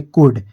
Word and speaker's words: could: यहां पर लिख देंगे कुड, जिसका यहां पर स्पेलिंग होता है COULD। यहां पर L लिखेंगे लेकिन L को हम उच्चारण नहीं करेंगे, L हमारा साइलेंट रहेगा।